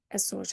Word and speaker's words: Açores: say just tá, nos Açores, and this is actually all going to be tá nos Açores. It's all one chunk, one king. So tá nos Açores with a Z.